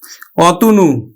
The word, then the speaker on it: অতনু: এর মত উচ্চারিত হবে তাহলে আমরা উচ্চারণ করবো কিন্তু সরি অতনু অত নু আমরা উচ্চারণ করলাম অতনু অর্থাৎ এই যে এখানে আছে ও টা এই অটা এখানে কিন্তু ও এর মত উচ্চারিত হলো এখানে ও এর মত